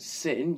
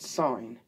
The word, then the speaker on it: sine: And it's not pronounced sin, you fool, because I am not religious in this house. It's pronounced sine.